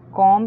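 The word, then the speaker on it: comb: Next sentence is, अपने बालों को अच्छे से कंघी करो, कॉम्ब your hair nicely, कॉम्ब your hair nicely, कॉम्ब में बी साइलेंट है, कॉम्ब your hair nicely, nicely का मतलब अच्छे तरीके से।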